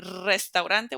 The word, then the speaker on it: Restaurante: the last one restante when it's at the beginning of the word notice even if there's only one R we're going to make it roll so it's going to be a strong one Restaurante which means restaurant the